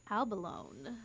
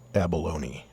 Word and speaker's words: abalone: Albalone. It's pronounced Gordon. I'm not feeling those either. It's pronounced abalone.